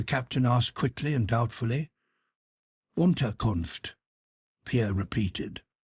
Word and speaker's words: Unterkunft: "Unterkunft," Pierre repeated. Ontarkov, said the captain, and looked at Pierre for some seconds with laughing eyes.